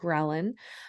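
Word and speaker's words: ghrelin: you might have heard of the hormone called gin um I've heard it pronounced other ways I believe the correct way to pronounce it is gin but gin um is so leptin and gin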